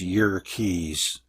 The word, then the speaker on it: Yerkes: Hiltner of Yerkes Observatory, actually it's Yerkes, Wikipedia says to pronounce it that way, Yerkes Observatory found that the light from certain stars is strongly polarized.